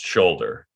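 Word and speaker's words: Sholder: spelled s-h-o-l-d-e-r her shoulder took the U out so that it would make it more clear to everyone it's pronounced shoulder right that shoulder you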